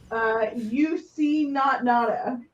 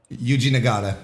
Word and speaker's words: Yuji Nagata: UC Not Nada. Yuji Nagata.